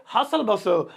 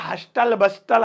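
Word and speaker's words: hustle bustle: हसल बसल ससुरा दिखने में तो हस्टल बस्टल, हस्टले बस्टले ऐसा लगता है, पर क्या करें, प्रोनाउंसिएशन की थोड़ी सी इसमें रूल की रेगुलेशंस हैं कि वो ची सालन पैडो है अंग्रेजों की तरह, तो इसे हसल बसल पढ़ेंगे।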